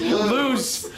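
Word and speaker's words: Luz: I love I love lies I'm like no that's not her that's not how you say it's loose and the chlorine it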